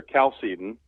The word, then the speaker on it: Chalcedon: Well, actually, it's the original pronunciation is not exactly certain, but it's pronounced there Chalcedon.